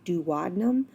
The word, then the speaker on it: duodenum: intestine called the duodenum there's a lot of different pronunciations of this I learn to just do within them but some professors in college did call it duodenum I think they're both widely accepted alright so the common